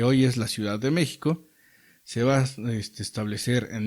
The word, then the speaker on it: México: Mexica quiere decir, el nombre de mexica viene de México o México. Entre los nahuas o los que hablan el náhuatl, la X se pronuncia como sh.